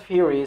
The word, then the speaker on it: fury: Query doesn't rhyme with very, nor does fury sound like berry.